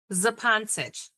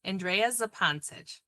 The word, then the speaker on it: Zupancich: So, your name, pronounce it for me one more time. Zepantisch. Andrea Zepantisch.